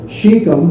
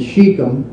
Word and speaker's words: Shechem: Now, just to show you that we're talking, Shechem, of course, is right here.